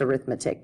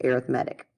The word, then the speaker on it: arithmetic: misalter that says arithmetic and it can be pronounced arithmetic but when we're talking about sequences and series we actually pronounce it arithmetic so an arithmetic sequence is a sequence in